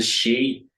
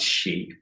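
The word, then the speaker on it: sidhe: woman is ban and the she is spelled s i d h e.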